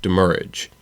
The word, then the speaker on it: demurrage: also based off of the way that the original French word that it is based off is pronounced it is demurrage damage so it originated